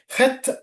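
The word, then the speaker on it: חית: ഹെത്ത് എന്നാണ് അതിന്റെ കറക്റ്റ് ആയിട്ടുള്ള ഉച്ചാരണം.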